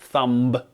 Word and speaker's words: thumb: on your hand thumb it's not thumb it's thumb so yes if you haven't noticed by now we're doing an episode about the silent B you might have the